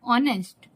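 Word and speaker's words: honest: ही is poor but ऑनेस्ट ही is poor but ऑनेस्ट इसको आप लोग सोच रहे होंगे हम लोग कि ऑनेस्ट क्यों पढ़ रहे क्योंकि इसमें जो एच है वह साइलेंट हो जाता है एंड दूसरा नंबर है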